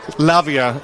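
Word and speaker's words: Lavai: the time and I didn't know how to pronounce her name. It was Lavia I have since learned and so I kept on roaring uh go on ex's girlfriend but that's all I knew.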